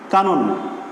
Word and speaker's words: কানন: আমরা দেখেছি আয়ের পরে যদি অ থাকে, অর্থাৎ মধ্য এর আগে যদি আ থাকে তাহলে সেই মধ্য অ এর উচ্চারণ হবে ও এর মতো। তাহলে এর উচ্চারণ কি হবে? কা নন।